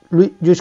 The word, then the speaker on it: Lluís: pues pido disculpas, pero lo voy a intentar decir como él me ha aconsejado, que es metiendo la ñ, ya me cuesta, ¿eh? Lluís Companys, como decimos, llega al edificio del ayuntamiento, permítanme la broma, por favor.